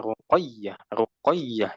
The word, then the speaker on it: رقية: Jadi ini sebetulnya melatih pelafalan di mana kalau ada yang bertasydid ditekan ya ruqayyah ya-nya ditekan.